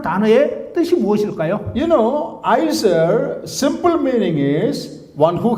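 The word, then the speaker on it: עזר: That is pronounced as Izer.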